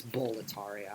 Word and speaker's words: Boletaria: Well, it's Boletaria. I just Bull. pronounce it like a fucking monkey.